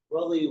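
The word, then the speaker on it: de Broglie: the BR the bro it's French name broy wavelength um it's a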